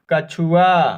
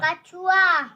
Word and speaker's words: कछुआ: अगला शब्द 'कछुआ' (कछुआ) है, K. K. Ch जिसमें 'u' की ध्वनि छोटी होती है और 'chu' का उच्चारण होता है। ' चू' के साथ 'चू' की ध्वनि, जिसमें 'उ' की ध्वनि संक्षिप्त होती है।